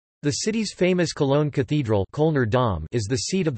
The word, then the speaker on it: Köln: Cologne, English, German, Köln, pronounced Cone, listen, Ripuarian, call, Kohl, listen, is the